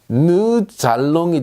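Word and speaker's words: nous allons: 자, 누에는 누 알롱이라고 읽고 싶지만 느 잘롱이 되죠. 왜 이런 일이 생깁니까? 자, 리에종 현상이죠. S가 알롱과 붙어서 잘롱이 됐습니다.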